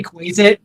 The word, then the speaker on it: Quasit: Anybody in chat actually know how to pronounce this? Is it Quasit? Quasit. Yeah, it's Quasit.